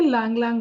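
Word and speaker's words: ylang-ylang: इसे बोलते हैं लैंग लैंग ऑयल, Y silent होता है इसमें।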